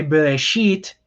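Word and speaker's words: בראשית: the syllables are so ba ray sheet okay so so you have three syllables so this is an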